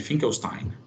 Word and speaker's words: Finkelstein: E é assim que se pronuncia, teste Finkelstein, que é esse aqui, tá bom?